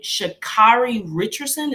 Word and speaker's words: Sha'Carri Richardson: What is going on with how does she pronounce her name? Sha'Carri Richardson.